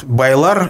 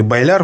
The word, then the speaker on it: Байлар: Это род Байлар или Байляр, в общем-то, по-разному произносят, который также находится на крайнем западе исторического Башкортостана.